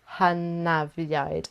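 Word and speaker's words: hynafiaid: So in Welsh, the letter F is pronounced like a V. So that should help whenever you're reading Welsh. So an F sound is actually two Fs, and a V is an F.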